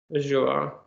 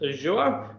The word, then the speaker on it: Azure: Now, I also appreciate that I pronounce it Azure, which I'm sure much of the disgust of Microsoft who call it Azure. But I feel like that's the American way of pronouncing it.